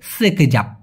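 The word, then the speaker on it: sekejap: অথবা সেতার অনেকে বলে না ভাই মূলত সঠিক উচ্চারণটা হবে সেকেজাপ সেকেজাপ অথবা সেভেন তার আর এই লাগি মানে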